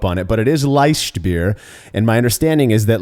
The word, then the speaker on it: Leichtbier: with me about German LED beer you pronounced it correctly it is not liked beer which I've been uh guilty of saying actually yeah I think